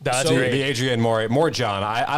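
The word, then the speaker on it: Morejón: The Adrian Morjon. I like that pronunciation, Morjon.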